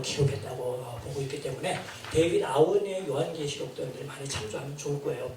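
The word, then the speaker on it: Aune: 그래서 나도 이제 비일 교수를 인용하면서 데이비드 아우네라고 했는데 여기 계신 편집부 직원이 이 아우네를 알지 못하고 우리나라 표준법에 의하여 표기하는 것 소리 해갖고 아우니라고 생각해요. 원래 발음을 아우네라고 발음해야 된답니다.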